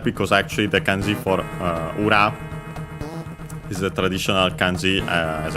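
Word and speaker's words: 裏: and then we have Uragi Uragi is a compound noun which uh from uh ura. We've seen it funny enough in this very uh game. Ura on its own accent on the last syllable uh technically means uh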